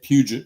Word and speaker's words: Puget: case to trial and he could not get puget right. He would he was pronouncing it puja and uh and it